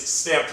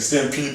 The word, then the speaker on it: Stamped: It is confirmed. It is Stamped Records. So I do apologize out there. I think I was saying Stampede the whole time.